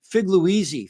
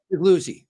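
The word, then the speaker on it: Figliuzzi: So I called him Figluizzi for like the first 6 interviews. I remember that. I remember looking at him like, how do you say his name? Because you say it like 3 different ways. Now, not anymore. I've been getting it right for a long time. So it's how do you say it? Figluzzi. Figluzzi. Yeah.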